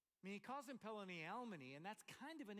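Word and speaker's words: פלוני אלמוני: All right, in Hebrew, Boaz is using a farrago here, and the way it's pronounced in Hebrew is Pelani Almani.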